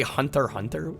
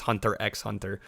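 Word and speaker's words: Hunter × Hunter: The X is silent because Japan. Is it really? You just say Hunter Hunter, actually? I think I've only ever heard it referred to as Hunter x Hunter.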